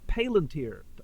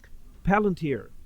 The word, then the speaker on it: Palantir: through Peter Thiel called Palantir, or I oftentimes mispronounce it because it's a word used by J.R.R. Tolkien. Palantir, however you pronounce it, it's Peter Thiel's